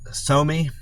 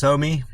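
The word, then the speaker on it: Psomi: Somi, I guess the P's probably silent, so it's probably pronounced Somi Restaurant on Howard.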